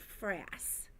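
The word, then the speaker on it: frass: the tiny green balls are called France rhymes with grass France is actually I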